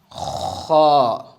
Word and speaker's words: خ: Pronounce it in full mouth. Because kha is one of the letters of full mouth.